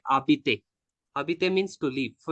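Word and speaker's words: habite: For the H example, I can give like abite. Abite means to live. So usually we use to say that Jabit a Bangalore, like I live in Bangalore. But H is silent over there.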